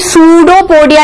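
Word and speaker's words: Pseudopodia: Phagocytosis, क्योंकि वो particularly सूडोपोडिया निकालते हैं। तो सूडो से फैगो, पी फॉर वी, पी फॉर पी। सूडोपोडिया में पी से स्टार्ट होता है पर पी साइलेंट होता है।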